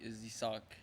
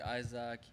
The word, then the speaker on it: Isack: And also, you could pronounce my name in any type of way you want, but the proper way is Isak. Isack. That's just for everyone, because people like to call me Isaac, but the proper way is Isak.